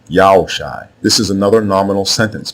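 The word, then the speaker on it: Joshua: proper name so now the way you pronounce hoshai's name is not yahawasha not yahusha not yahushua etc it is yahoo shai yao shai this is another nominal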